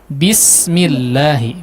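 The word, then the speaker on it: بسم: Di sin, huruf sin tadi ya, di huruf sinnya bismi, diperjelas lagi si hamesnya ya. Hamesnya tadi kurang jelas, kemudian kurang tipis ya Pak. Bismillahi, bismillahi.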